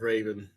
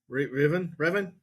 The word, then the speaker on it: Revan: I would love to see a Darth Raven. Revan? Darth How you Revan.